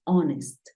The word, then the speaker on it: honest: House, home, horse, pero hay algunos casos como cuatro palabras en las que la H es muda. Por ejemplo, hour, que es hora. Tenemos eh honor y tenemos honest.